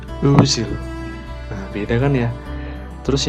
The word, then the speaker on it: Özil: Nah, bukan Ozil tapi Mesut Özil.